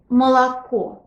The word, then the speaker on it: молоко: Example word молоко. It's spelled with 3 letters O, but when we pronounce it, we only hear one O in the final syllable, which is stressed.